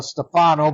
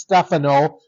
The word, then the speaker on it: Stefano: For years, we called him Stefano, but it is Stephano, like the tennis player.